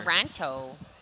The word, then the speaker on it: Toronto: Toronto. You're pronouncing the second T just like Phi.